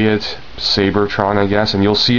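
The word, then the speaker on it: Seibertron: wondering it is pronounced sabertron rather than Cybertron um the name is actually taken from I guess the Japanese pronunciation of Cybertron so they would say it sabertron I guess and you'll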